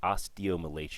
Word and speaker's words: osteomalacia: So underneath, and it's pronounced osteomalacia.